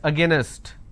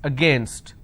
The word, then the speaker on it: against: Don't pronounce this as against. It's against. Abbreviation, annihilation.